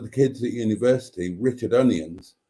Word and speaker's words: Onions: kids at university, Richard Onions, and he did pronounce it onions, not onions, like some people who were called onions did. He pronounced it onions.